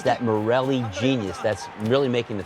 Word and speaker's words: Morelli: Why not work, Coach Morelli? What did you say, Toshi? Morelli? You said Morelli.